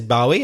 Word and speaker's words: Bowie: In fact, he was such a changeable character that there are even two ways to pronounce his surname. Craig says Bowie, and many people do, and I say Bowie.